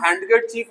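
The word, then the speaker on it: handkerchief: अब चलते हैं आगे, डी से साइलेंट वर्ड। तो यहाँ हम हैंडकरचीफ नहीं पढ़ेंगे बच्चों, हैंडकरचीफ, रुमाल।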